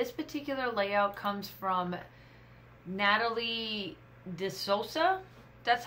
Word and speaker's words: DeSouza: And this particular layout comes from Natalie DeSouza.